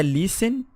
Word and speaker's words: listen: E é listen, não tem a pronúncia do T, é listen.